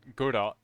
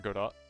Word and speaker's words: Godot: I want to learn Godot, the engine. I think you pronounce the T in the Godot engine, because it looks cool.